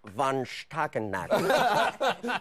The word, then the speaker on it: von Stuelpnagel: It's pronounced von Stuelpnagel.